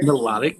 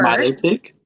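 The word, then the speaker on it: Milotic: And then I did myotic or melodic, however melodic. Yeah. Pronunciation you prefer. Mileotic. I prefer melodic, but I know a lot of people prefer Milo tick.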